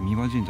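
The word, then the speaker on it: 大神神社: れども、大神神社と書いて三輪神社と読むんですが、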